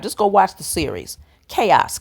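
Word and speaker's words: Kaos: go watch the series chaos k a oos that's how it's spelled on Netflix and you'll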